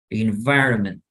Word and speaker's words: environment: Si quieren, busquen esta palabra y entonces esto es in, la V endolabial, inva, inva, environ, environ, environment. Y la T no suena.